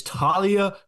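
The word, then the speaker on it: Taulia: I have said Talia, and you said it's Talia. No, it is Talia Tagovailoa. Thank you very much. Point that up. Guess that's how you say it, according to Carts.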